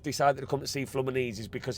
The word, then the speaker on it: Fluminense: It's it's pronounced Flamazi. Flanesi I'm being told it's pronounced.